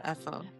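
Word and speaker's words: Aoife: So then his girlfriend Effa, I don't know why it's pronounced like that. Is that how it is? Yeah, Effa.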